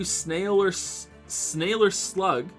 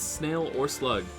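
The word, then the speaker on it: SnailOrSlug: Thank you, Snailer Slug. Snail. I always want to say it like sailor, like snailer slug, but it's snail or slug.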